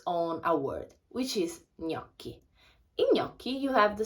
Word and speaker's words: gnocchi: is so please remember when you have the combination of g and n you pronounce it like so please pronounce it like i heard a lot of different and strange pronunciations of this word but it's gnocchi so we have for